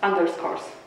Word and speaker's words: Underscores: Dodajemy na koniec S i wymawiamy razem jako jedno słowo, czyli underscores.